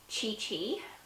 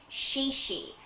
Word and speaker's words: ChiChi: I'll start off with Chi Chi which is actually pronounced shi shi and I don't even